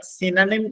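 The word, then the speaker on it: synonym: ഏതാ first സിനോണിം ആ നിങ്ങള് സിനോണിം എന്നാണ് ഉച്ചരിക്കേണ്ടത് എല്ലാ ആളുകളും ഉച്ചരിക്കുന്നതാണ് സിനോണിം അവിടെ ഒരു ഓ ഉള്ളതുകൊണ്ടാണ് ആ ഓ നിങ്ങൾ ഒരിക്കലും ദീർഘിപ്പിച്ചിട്ട് ഉച്ചരിക്കരുത് ഫസ്റ്റ് സിനോണിം എന്ന് പറഞ്ഞാൽ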